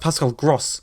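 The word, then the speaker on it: Pascal Groß: wrong side of the keeper Pascale grub craft Pascale gross sorry it's how it's pronounced lovely finishing that one goes into the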